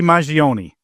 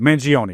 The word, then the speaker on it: Mangione: You mentioned Luigi Mangione. I think I'm pronouncing that right. Mangione, right? Okay.